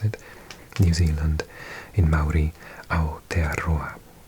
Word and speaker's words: Aotearoa: say it somewhere, so I knew how to pronounce it. New Zealand, in Maori, Aotearoa. Aotearoa.